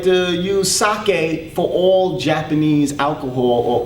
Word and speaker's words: sake: Another very familiar word of the Japanese language is sake.